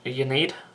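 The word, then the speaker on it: Ynnead: give a go now I don't know for why is silent in un need um I guess it's pronounced un need so these all un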